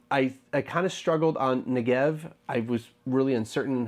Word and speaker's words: Negev: kind of struggled on Negev I was really uncertain how to pronounce it but I kind of got it right in the video but it's Negev alright back to the